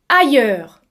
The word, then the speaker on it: ailleurs: Le son A se prononce A comme le mot la مثل لا. المقطع الثاني يتكون من 3 أحرف I se prononce I comme le mot taille. المقطع الثالث heure se prononce heure comme le mot sourd. Et attention mes amis, S ne se prononce pas.